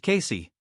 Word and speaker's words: KC: He decided to go by KC, which is pronounced Casey.